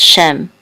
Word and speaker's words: Shem: translation for this and this is a shin with with it said feet which says Shem so Shem is the